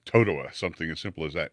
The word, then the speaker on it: Totowa: And it was like Totowa, something as simple as that. And she was saying Tatawa. And I go, no, it's Totowa.